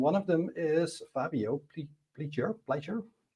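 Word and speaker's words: Pliger: of them is Fabio Pleure Pleure. Depending on which country you come from, the pronunciation will be different. uh pledger in uh American and he is the inventor of biscript.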